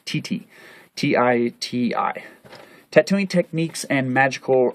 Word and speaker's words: titi: facial paint, and above all, tattoos, which they pronounce Titi, T-I-T-I.